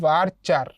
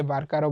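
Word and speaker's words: VARCHAR: এরপরে আসো ভারচার। এটাকে উচ্চারণ এভাবে করা হয়। ভারচার অনেকে ভার্কারও বলে।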